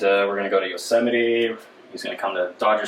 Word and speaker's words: Yosemite: oh yeah my bad my bad ed it's pronounced uh yosemite my bad from our glorious leader that we